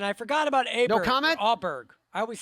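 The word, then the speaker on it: Åberg: says it but but ludvig told everybody because the pronunciations were just brutal he just said just call me o Berg but but Daniel told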